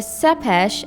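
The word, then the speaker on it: Țepeș: Dracula earned another nickname, "Vlad Tepes" (pronounced tsep-pesh), which means "Vlad the Impaler."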